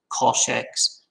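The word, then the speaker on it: cosh x: these three functions and the most common way of pronouncing them is shinex coshx and than x both the hyperbolic functions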